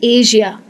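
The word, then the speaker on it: Asia: अब कई लोग एशिया कहते हैं इसको, ये वर्ड को कई लोग श में कहते हैं, एशिया। एशिया इंडिया में बहुत होता है, गलत प्रोनाउंसिएशन है, इसको कहना चाहिए एशिया। सही प्रोनाउंसिएशन है एशिया। जैसे होता है कैजुअल, कैजुअल मुझे मालूम है ज़्यादातर लोग सही कहते हैं, तो कैजुअल में जो आप ज कह रहे हैं वही लगता है एशिया में।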